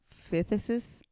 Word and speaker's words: phthisis: How would you pronounce the one under white plague? Phthisis.